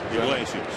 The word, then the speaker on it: Iglesias: Iglesias.